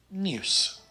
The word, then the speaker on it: nieuws: The IEU blend is pronounced eeuw, like in the word nieuws.